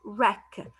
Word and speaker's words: wreck: i have the word wreck w silent wreck wreck means ruined broken destroyed